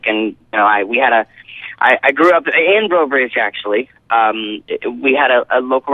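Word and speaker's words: Breaux Bridge: Brobridge. You nailed it. I'm so proud of you. I'm so proud. Yeah, no, I'm from a little town called Brobridge, Louisiana, near Lafayette, Louisiana.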